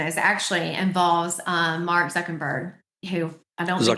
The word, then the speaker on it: Zuckerberg: the most recent is actually involves um Mark Zuckerberg who I don't Zuckerberg. Yeah, Zuckerberg. Did I say I'm sorry. I'm sorry. I thought you said Zuckenberg.